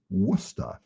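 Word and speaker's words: Worcester: peabody to me where i come from is pronounced peabody you know peabody illinois it's peabody here worchester is wusta so i'm trying to you know futz around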